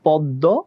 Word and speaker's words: পদ্ম: দ, শেষ বর্ণে কি আছে? অ উচ্চারণ হচ্ছে, আবার শেষ বর্ণটাতে গিয়ে অ উচ্চারণ হচ্ছে, অ উচ্চারণ হলে আমরা কি করব? ওকার করে দিব, তাহলে পদ্ম, ওই জন্য ওকার করে দিয়েছি।